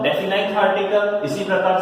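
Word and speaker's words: definite: हुए आ रहा हूं, कुछ लोग इसको डेफिनेट बोल देते हैं और डेफिनेट बोलने के चक्कर में स्पेलिंग लिख देते हैं ये, तो माय डियर फ्रेंड्स ये गलत होती है। ठीक है ना? मैं बोल रहा हूं डेफिनाइट आर्टिकल, इसी प्रकार से इंडेफिनाइट आर्टिकल।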